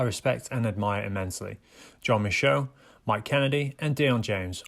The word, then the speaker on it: Michaud: And yeah, so it's pronounced Michaud or Michaud. A lot of people think it's Michaud or Michael or Mikachad or something like that, but so it's Michaud.